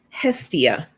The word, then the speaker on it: Hestia: Let me make sure I'm going to pronounce her name correctly. Hestia.